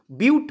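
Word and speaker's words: but: তো উচ্চারণটা বাট নয়, বিউট হয় উচ্চারণটা, তো 4 × 2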